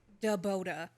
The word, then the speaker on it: Boda: Boda. Boda. Da hyphen is a pause.